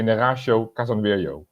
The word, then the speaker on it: Neraysho Kasanwirjo: But in Holland we say Neraysho Kasanwirjo.